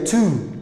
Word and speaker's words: two: waxa ka hormaray t iyadana waxa la leeyahay two maxaa la leeyahay two ayaa la leeyahay oo